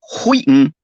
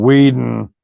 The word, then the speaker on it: Whedon: Also, H in Wheaton is silent. Jesus fucking Christ. See, I'm sorry, Jamie Vick. I'm sorry, Jamie Vick. I know that the H in Whedon done, motherfucker.